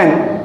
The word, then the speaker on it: and: AND का correct pronunciation होता है एन, डी साइलेंट रहता है। उसको जब स्ट्रॉन्ग फॉर्म में हम प्रोनाउंस करते हैं तो उसे बोलते हैं एंड। तो अगर आप इसे एन बोलना चाहें या AND को एन प्रोनाउंस करना चाहें तो बिल्कुल ठीक है, कहीं गलती नहीं है ना। जब स्ट्रॉन्ग फॉर्म में बोलते हैं तब हम इसे एंड बोलते हैं, otherwise it's pronounce like एन।